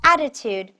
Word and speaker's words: attitude: to some extent attitude attitude attitude note that t-u-d-e is pronounced as tude and don't miss the stress on the first syllable say it together attitude